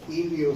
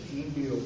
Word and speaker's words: hilio: pulmonar es muy interesante ilio se escribe así con h ilio pulmonar ustedes pueden ver